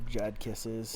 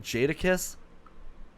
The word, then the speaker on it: Jadakiss: Iggy Pop yep uh Jad kisses oh wasn't Pharrell in a band yeah he was a nerd did you say Jad kiss yeah did you mean Jadakiss pronouncing Richie The Commodores